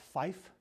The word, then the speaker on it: five: You got five, which is pronounced fife, F-I-F-E, fife.